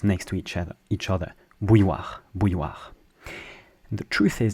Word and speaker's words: bouilloire: Bouilloire. So you start by saying bou, and then you add a y.